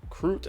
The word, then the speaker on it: Krut: so a player named isaac croot i believe is how you pronounce his last name k-r-u-t actually made day